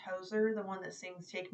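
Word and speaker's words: Hozier: And the first time that I heard him, he reminded me, I think it's pronounced Hoser, the one that sings Take Me to Church.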